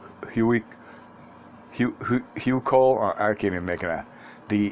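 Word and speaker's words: Huichol: continued i've seen the i don't know how to pronounce this h-u-i-c-h-o-l hugh cole or arcadia making a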